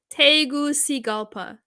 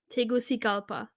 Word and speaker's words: Tegucigalpa: the capital of city of Honduras it is pronounced is it that teguci Polk Tegucigalpa Tegucigalpa yeah okay thanks thanks amitaba I learned something